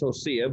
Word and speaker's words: Hosea: the name of hosea the proper way to say it is osea but traditionally we've said jose and i'll leave it that way he marries a